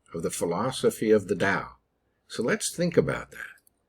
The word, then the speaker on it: Dao: the philosophy of the dao so let's think about that so here's the original chinese characters and they're pronounced dao now up here we